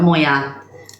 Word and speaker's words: Moya: next hi hi uh Moya I hope I said your name right Moa yeah you did say it right hello darl um I'm